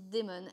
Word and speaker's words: Dimon: bonsoir c'est moi bonsoir Patricia Dimon ça se prononce démon à qui a-je l'honneur